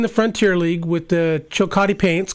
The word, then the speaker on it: Chillicothe: Now, Brian, you were, I believe, you played in the Frontier League with the Chillicothe Paints, correct? Did I pronounce that right?